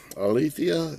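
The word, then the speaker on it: ἀλήθεια: here but that's all right now that uh alithea is how you pronounce it back in strong's g225 um 225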